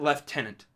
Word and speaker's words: lieutenant: know that yeah leftenant it's spelled this same but they pronounce it leftenant we looked into it